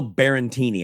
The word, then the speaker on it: Barantini: Phil Barantini. I think I said his name wrong.